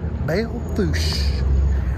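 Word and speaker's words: Belle Fourche: y'all on star rider here i'm here in belfoush south dakota bail foosh i had to ask how to pronounce the name uh i'm here at a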